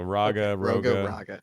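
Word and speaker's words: Rhogga: but in session two it was Raga so Raga that's how everyone you want to pronounce it as r h o g g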